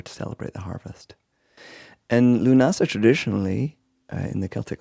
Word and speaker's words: Lughnasa: Lunasa is the Irish ga pronunciation for the word for August.